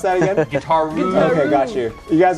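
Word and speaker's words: Guitaroo: How do you pronounce that again? Guitar-roo.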